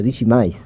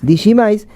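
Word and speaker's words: Digimais: Creo que lo voy a pronunciar bien. El banco se llama Banco Digimis. Está bien dicho. Digimis. Sí, Digimis, que es un banco que le pertenece a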